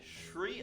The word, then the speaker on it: Sri: probably completely wrong so that s r i that's how the sh in shr Lanka is spelled isn't it does that